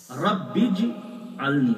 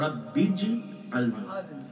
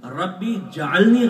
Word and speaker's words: رب اجعلنی: یہ غلط تلفظ سنا، رب اجعلنی یہ صحیح تلفظ ہے، رب اجعلنی، ربی جعلنی غلط۔ اسی طرح یہ جو